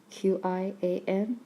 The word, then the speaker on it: 铅: 铅笔铅笔 is spelled Qian 铅 first tone, B third tone.